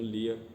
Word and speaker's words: Lia: Alguns chamam de Lia. Na minha Bíblia aqui tá escrito Leia e eu vou pronunciar como Leia, mas se você conhece a história como Lia, entenda como Lia.